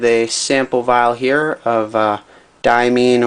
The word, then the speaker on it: Diamine: sample vial here of diamine or DME and however you want to pronounce it I call it diamine but you know take your pick marine diming marine this